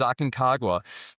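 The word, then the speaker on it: Aconcagua: It's called Mount Aagwa. Um once you climb it, you figure out how to pronounce it. So, it's not easy to do, but it's Aken Kagwa.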